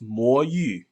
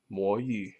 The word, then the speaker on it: Mo Yu: In Chinese, it's pronounced Mo Yu. Mo Yu.